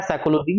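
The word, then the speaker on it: psychology: उच्चारण भिन्नता नहीं होती जैसे आप साइकोलॉजी देख लीजिए पी से चालू होता है लेकिन पढ़ते क्या है साइकोलॉजी य इंग्लिश जैसा ना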